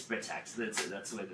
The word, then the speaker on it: Britax: Britax like them from someplace else everybody says right X but it's protects this is absolute it's pronounced so we tried to infancy for a